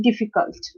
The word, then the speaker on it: difficult: Again, difficult. So D requires more pressure. So the stress is on the first syllable, which is the first syllable of the third, because it's a three-syllabic word, right?